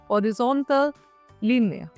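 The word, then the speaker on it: horizontale: French में क्या बोलेंगे हॉरिजॉन्टल लीन हॉरिजॉन्टल लीन यहां प एच हमारा साइलेंट रहेगा जो हम पहले बता चुके हैं ओके हॉरिजॉन्टल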